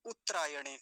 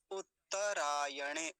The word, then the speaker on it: उत्तरायण: बोलेंगे फिर से देखिए एक गलत उच्चारण क्या हो सकता है इसका वो देख लीजिए पहले उतरायण उत उत दोनों तक को आधा कर देते हैं उतरायण ऐसा नहीं उत्त दूसरा त का जो है व पूरा होगा कैसे होगा फिर इसका उच्चारण उत्तरायण उत्त उत्तरायण ऐसा ये बस छोटी सी